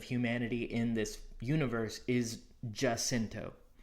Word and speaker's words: Jacinto: I know that Jacinto would be a very authentic pronunciation, but in this universe, we're not Earth. We're here on Sarah. So pronouncing that as Sierra, pronouncing Jacinto as Jacinto, it's a little bit